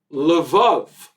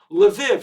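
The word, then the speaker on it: Lviv: growing up some of my family came from levov which was the way it was pronounced in the olden days a city right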